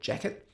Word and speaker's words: Jacquet: So the saxophone, of course, is Jean-Baptiste Illinois Jacquet, or Jacquet, if you pronounce with the American pronunciation.